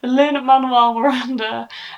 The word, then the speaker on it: Lin-Manuel Miranda: I've been saying his name wrong as well. Lin-Manuel Miranda, and his voice suited this book so, so well.